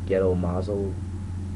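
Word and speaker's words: Gedō Mazō: I think he was connected to the ghetto mazo.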